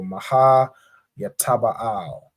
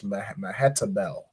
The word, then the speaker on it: Mehetabel: So Maha Yataba'al, right? Or in the English, Mehetabel.